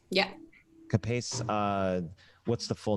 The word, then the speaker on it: CAPACE: And I want to say is it pronounced CAPACE? Is it CAPACE? That's right. Yeah. CAPACE.